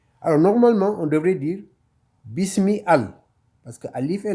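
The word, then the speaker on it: بسم: Comme on avait dit, c'est pas bisa, bisou ou bisi, c'est bis, parce que c'est le rond, qui est le 4e son.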